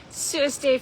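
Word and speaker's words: សួស្តី: Sueste, friends, that is how you say hello in Khmer in Cambodian.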